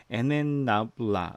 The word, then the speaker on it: NNabla: 자, 여기 라이브러리스 폴더, 립스라고 되어 있는 폴더가 있는데, 이 안에 보면 미니콘다 3, 그 다음에 NNABLA, NN나블라 이렇게 부르는데, 이게 아까 얘기한 그거예요. 뉴럴 네트워크 라이브러리스예요. NN 뭐라고 읽어야 될까요?